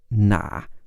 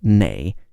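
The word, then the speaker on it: 哪: words after which and the word for which is normally na which can also be pronounced nay in parts of North China if you wanted to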